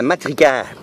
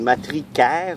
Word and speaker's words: matricaire: Ça ici, c'est de la matricaire.